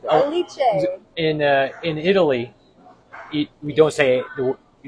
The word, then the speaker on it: Alice: Aliche. In uh in Italy, we don't say the you don't say uh the name Alice, you say Aliche. So, we pronounce it in Italian way.